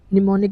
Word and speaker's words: mnemonic: निमोनिक की spelling है एम एन ई एम ओ एन आई सी निमोनिक क्या होता है?